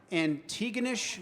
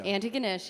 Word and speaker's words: Antigonish: from Canada I am uh you are from Antigonish Nova Scotia Antigonish yeah Antigonish yes is did I get the pronunciation close close enough honestly at least at